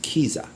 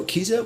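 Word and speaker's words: Kiesza: can pronounce this right it's spelled k i e s z a i think it's pronounced kiza now calvin harris is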